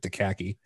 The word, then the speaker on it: Akacki: uh the AKA C Ki or as lint pronounces it daki um that's how I pronounce it dud it's